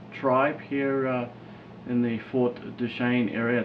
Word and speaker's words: Duchesne: He's from the Ute tribe here in the Fort Duchesne area. It's Duchesne, right? Yes, Duchesne. You've got to get the pronunciation right, you know.